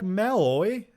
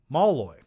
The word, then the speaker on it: Malloy: Malloy. I just pronounced your name wrong again. Malloy.